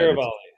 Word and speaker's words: Cervelli: Frank Cervelli, I believe, is how it's said. Cervelli. A lot more syllables than you expect.